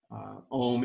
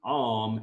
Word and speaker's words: Om: But understanding the symbol a little bit more, and understanding the AUM, because I know when I first learned that Om was actually Om, AUM, it was a bit confusing.